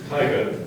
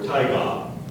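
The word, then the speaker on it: taiga: any alter pronunciations U these two are quite close so listen closely tiger or tigga language of origin please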